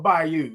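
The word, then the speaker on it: Bayou: People People don't know about that old Buffalo Bay by you. Okay. By you. Okay. That's how they say it. By you. Not by you.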